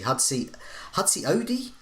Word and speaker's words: Hudson-Odoi: Hudson Odoi, or is that how I pronounce it?